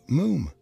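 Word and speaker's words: Moffam: i told you father it's moom moom is spelt m-o-f-f-a-m for pronounced moom to rhyme said archie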